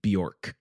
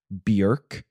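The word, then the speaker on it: Björk: rally behind me in saying that it's not pronounced Bor oh really it's pronounced BK wow um my whole world has been turned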